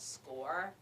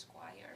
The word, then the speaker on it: SCOIR: It's called SCORE, which is a tricky name because it sounds like test score, but it's spelled SCOIR. And Commonly mispronounced Squire.